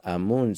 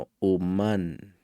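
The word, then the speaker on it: אָמוֹן: En hebreo es amú, no se pronuncia amú, sino h umán, que literalmente significa artífice.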